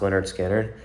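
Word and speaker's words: Lynyrd Skynyrd: So the song was released on April 13th, 1973, on that album, Pronounced Leonard Skinner.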